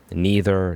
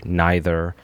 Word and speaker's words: neither: Neither, neither, same, different pronunciation, same meaning.